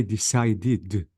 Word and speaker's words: decided: rule guys any verb any verb ends with t or d I have to pronounce the E with d notice decide because the verb ends with d sound not not word I'm talking about sounds you have to say decided another example wait if